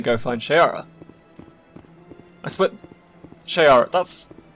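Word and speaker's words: Sha'ira: Shaira, that's... It's spelled differently, but that's like Hawk Girl's name.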